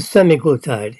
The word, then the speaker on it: semaglutide: the pen is already pre-loaded with the uh semaglutide s n a glutide that's how you pronounce that it's a semi glutide injection there are other glut Tides uh you've